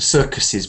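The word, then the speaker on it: circus's: yes there it goes the circuses and some people miss those the circuses blue and white tent right so um in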